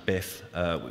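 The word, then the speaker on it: biiif: It's called Build IIIF, but Ed tells me you can just pronounce it BIF, which is fine.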